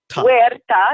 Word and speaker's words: Huerta: know like where where where da you don't pronounce the H it's like a we're like a double you sound when da Matta ok